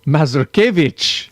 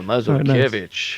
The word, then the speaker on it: Masurkevitch: Everybody, please welcome to the show, Masurkevitch. Yes. Is that right? Yes, and with the OG pronunciation as well, Masurkevitch.